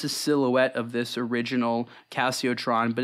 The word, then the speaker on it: Casiotron: What do you think of the Casiotron? Is that the way you pronounce it? Yeah, Casiotron.